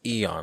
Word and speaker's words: Aeon: It's Aeon, not Aeon. Let's put this to bed. Right. Is the A silent? According to Webster's dictionary, right? It's the A is silent.